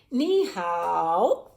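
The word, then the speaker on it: 你好: you say it nihal nihao all right and the word knee means you and the word how means good and this is how you say hello nihal nihal and the way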